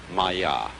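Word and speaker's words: māyā: i'm going to write that down for you pronounced maya and this word comes from a root in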